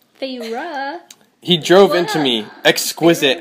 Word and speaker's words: Feyre: How do you pronounce her name again? Feyre. Feyre.